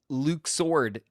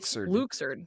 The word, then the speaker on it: Luxord: No, it's not Luxur or Luke sword. It's Luxord.